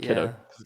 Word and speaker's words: Kiddo: mispronounce that guy's name I always said Katie and kdo instead of kiddo kiddo it's a kiddo bro